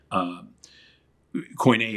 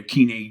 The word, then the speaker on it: Koine: So there's a lot of people who study Koine or Kine Greek, depending on how you want to pronounce that.